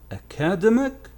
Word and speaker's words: academic: do you pronounce it academic yeah here is the problem when this noun is changed into an adjective and the adjective ends in i see the stress shifts you see the stress